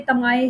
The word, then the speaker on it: TMAE: तो MCQs point of view से ये की जो है TMAE की, इसको मैं प्रोनाउंस करूँगी तमाए के नाम से, जो कि ईज़िली आपको 1 से 2 टाइम्स आपको याद करना पड़ेगा।